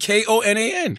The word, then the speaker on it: Konan: __ ] they are I know how you pronounce it crept koe PT and KO na n Krept and Konan alright